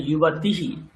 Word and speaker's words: युवतिः: তাহলে বিসর্গ উচ্চারণটা করতে হবে, নাহলে বানান ভুল লিখবেন। ওই যে আপনার লেখা রয়েছে ওটা দেখুন। তাহলে যুবতীহি, বিসর্গ উচ্চারণ যুবতীহি অভ্যাস করুন।